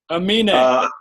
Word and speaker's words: Aminé: How do you pronounce his name? Aminé.